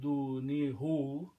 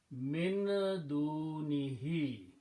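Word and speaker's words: مِن دُونِهِ: So now pronounce, it's very easy to pronounce do ni hi instead of do ni hu.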